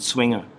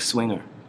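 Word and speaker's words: Zwinger: a bar that's called swinger it's Pro it's z w i n g e r it's pronounced swinger it's like swinger and that's you can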